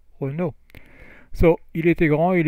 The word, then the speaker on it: Renault: So Renault is a French car maker, and it rhymes. You see, beau Renault.